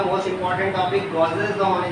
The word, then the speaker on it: Gauss's law: Pronounce सही कीजिएगा, गॉसेस लॉ है, गॉसेस लॉ।